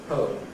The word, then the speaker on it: whole: ] rather than , ‘whole’ rather than .